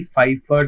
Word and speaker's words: Pfeiffer: So this part is done and Pfeiffer the P is silent in the Pfeiffer syndrome okay?